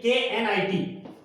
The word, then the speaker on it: knit: K-N-I-T. K is silent here.